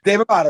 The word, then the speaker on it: Dave Amato: Dave Amato. Is that correct? Dave Amato.